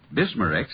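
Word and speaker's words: Bisma-Rex: have to remember that bismar Rex is that how you say it that's right ma'am b i s m a hypen re x bismar x ask for bismar X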